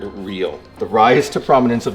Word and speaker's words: REO: also of note is the pronunciation of the vehicle's name which is as one word real the rise to prominence of the band REO Speedwagon In the late